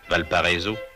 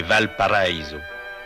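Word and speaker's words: Valparaíso: par les ascenseurs ce que l'on prononce affreusement à la française valpariso c'est Valparaiso la vallée paradis paradis d'une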